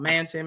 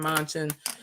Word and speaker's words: Manchin: other people specifically um i know i'm saying his name wrong mansion manchin um you know as